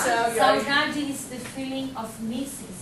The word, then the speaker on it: saudade: Saudade.